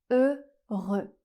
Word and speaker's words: heureux: C'est un /ø/ fermé, et le X final est encore une fois une consonne muette la dernière consonne du mot ne se prononce pas donc on a le mot heureux.